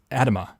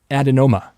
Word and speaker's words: adenoma: so increased incidence of pancreatic islet cell Adama I I keep mispronouncing this adenoma adenoma or carcinoma combined were